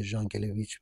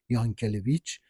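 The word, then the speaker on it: Jankélévitch: یک طرف هرچند که این تلفظ نامش به صورت ژان کلیچ و نه یان کلیچ که روسی این کلمه هستش خاصی بوده که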